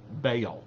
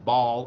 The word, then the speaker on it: Baal: for the worship of bale now you've heard it pronounced either way ball or bale b-a-a-l and um it is